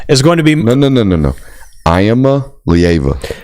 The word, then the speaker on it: Iamaleava: Iamaleava. Break it down like that. On SEC they were pronouncing it as Iamaleava.